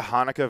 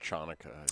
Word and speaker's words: Chanukah: Is there a Hanukkah version of, like, Krampus? It's pronounced Chanukah.